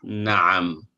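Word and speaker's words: نعم: The opposite of na'am. Na'am. Na'am. Not na'am or na'am. No, na'am. Ayn is a throat letter. It is pronounced from the middle of the throat.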